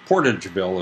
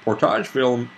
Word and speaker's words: Portageville: 12th as well portageville portageville is probably how it's pronounced there portage would be french but anyway we see